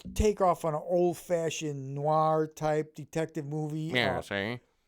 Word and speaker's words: noir: It was a NAR twe. How do you say it? Noir.